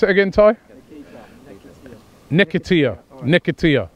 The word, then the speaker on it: Nketiah: How do you pronounce it again, Ty? Nketiah.